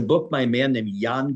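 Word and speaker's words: Jan: There's a book by a man named Yan Gross, spelled like J G- A.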